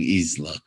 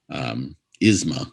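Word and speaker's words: Yzma: Don't get me wrong, I love Eartha Kitt, especially when she's playing Isla. Yes. Why can't I say her name? Isma.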